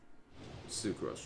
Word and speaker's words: Sucrose: Sucrose rhymes with gross.